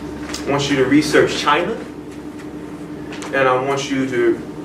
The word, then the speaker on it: Qin: properties they didn't want to be a uniting China but you have a ruler if you will